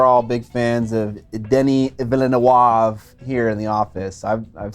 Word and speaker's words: Denis Villeneuve: I say Villeneuve. It's Denis Villeneuve.